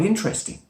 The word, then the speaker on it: interesting: For example, in a normal sentence, somebody might say, "Ooh, that's quite interesting." "Ooh, that's quite interesting," with 3 syllables, and we drop a schwa sound. But sometimes you can say, "Ooh, interesting." Interesting. When there's more intonation, there's more feeling, maybe there's more surprise, we can enunciate the word very clearly with all 4 syllables.